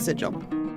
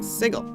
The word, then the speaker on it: Sigil: And uh, we were in um, if you know anything about Dn D, we were in Sigil. No, sorry, not Sigil. We were in Sigle, which is a city